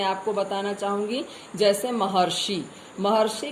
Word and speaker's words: महर्षि: जैसे महर्षि, हम लोग बोलते हैं महर्षि, तो मह ह के बाद अर ध्वनि सुनाई देती है।